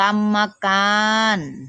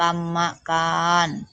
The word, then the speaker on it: กรรมการ: อ่าน นะ คะ วัน ที่ 1 อ่าน ว่า กรรมการ แม่ อ่าน ว่า กรรมการ ธรรมดา อ่าน ว่า ธรรมดา วัน คณะ คดี อ่าน